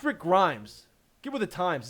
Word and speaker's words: Rick Grimes: my name right Rick Grimes Rick Grimes it's Rick Grimes get with the times it's the best show